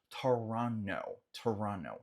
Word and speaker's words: Toronto: em inglês comumente falamos Toronto. Não pronunciamos esse T final de forma comum, tá?